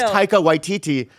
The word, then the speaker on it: Taika Waititi: Then she goes, it's it's Taika Waititi.